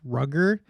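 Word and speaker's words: Rudger: Young Lorenzo Snow and someone said that this name is pronounced rugger uh so I don't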